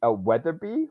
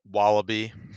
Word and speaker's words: Weatherby: Um, and then I forget the creepy Weatherby, the Weatherby. Weatherby. yes, They make fun. They keep mispronouncing his name on purpose, so it's hard to yes, remember what it actually is. Wallaby.